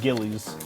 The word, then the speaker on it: Gilles: it's pronounced sorry G I didn't know you were called Gillies like a suit I mean spelled different